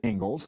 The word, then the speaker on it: Inglis: Ingalls lecture. Looks like Inglis, but it's pronounced Ingalls.